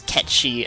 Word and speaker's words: Cait Sith: care I recently learned that Cait Sith is catchy and I don't care because ever since final fantasy 7 10 6 years old I have pronounced to kates it and that is what it shall be to me forever why am i